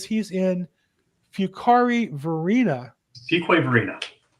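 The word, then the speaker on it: Fuquay-Varina: Fuquay Varina. There you go. Yeah, it's not pronounced like it looks like, right?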